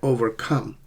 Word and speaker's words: overcome: Compound verbs is second syllable. So notice the difference. There is something very interesting happening here. In compound nouns, usually the first syllable is a stress, right? And in compound verbs, it's the second syllable, like overcome.